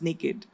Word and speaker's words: NYKD: And we started conceptualizing this brand, which is called NYKD by Nykaa, and it's actually pronounced naked by Nykaa.